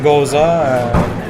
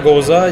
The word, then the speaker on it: Gose: Il y a le côté salin aussi d'une Gose, une Goza, pour la prononcer comme il faut, je crois.